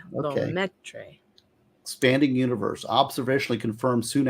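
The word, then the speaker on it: Lemaître: He was the first to theorize the recession of Lemaitre. That's how it's said. Okay. Lemaitre.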